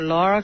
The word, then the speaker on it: Lara: And I think they call her Lara Croft, even though it's L-A-R-A.